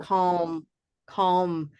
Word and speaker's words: calm: And that L, that's an interesting question because of that M that follows, we, in a sense, aren't going to care very much because our lips are closing right after it.